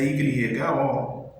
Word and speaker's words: yo: Se eu fosse falar eu em espanhol, a escrita vai ser a Y-O, yo. Se eu fosse falar já em espanhol, a escrita vai ser Y-A, já. Então, yo, já.